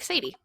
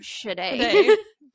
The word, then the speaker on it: Shade: Every time I read it, though, I'm like, Sadie. Because that's how I'm like, my brain immediately was reading it until it got pronounced in the book.